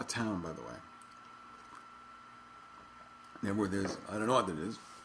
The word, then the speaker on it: Knebworth: Knebworth is, I don't know what it is. I don't know why the K is silent.